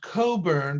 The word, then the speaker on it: Cockburn: He had a commander of the naval side of things in Rear Admiral George Cockburn, pronounced Coburn, but spelled Cockburn.